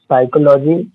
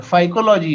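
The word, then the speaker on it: phycology: साइकोलॉजी study of brain ना। साइकोलॉजी नहीं है यार वो, यहाँ PH लिखा हुआ है, फाइकोलॉजी है वो, साइकोलॉजी नहीं है। इसको सर प्रोनाउंस कैसे करेंगे? फाइकोलॉजी, PH है फाइकोलॉजी।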